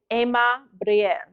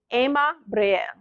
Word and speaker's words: Ema Briel: So what we're going to say is Ema Briel. Now, for those of you that this in the divine language, the R does roll. So if you do not know how to roll your R's, you can just do your best, and that's okay.